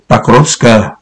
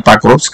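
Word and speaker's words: Покровск: Các bạn cứ nghe theo đúng tôi phát âm là chuẩn Nga luôn đấy các bạn nhá. Chứ Porop là không có đúng đâu. Các bạn nghe các đài Nga là nói Pakrovsk.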